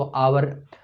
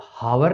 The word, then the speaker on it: hour: जैसे कुछ अपन अंग्रेजी की बात करें तो आवर, HOUR लिखते हैं, तो उसमें उसको हावर नहीं कहते, आवर कहते हैं, वहाँ पे एच का उच्चारण नहीं होता।